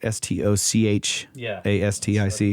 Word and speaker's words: stochastic: origins such as uh stochastic forcing um i think that's how you pronounce it s-t-o-c-h a-s-t-i-c that's right stochastic forcing generated by local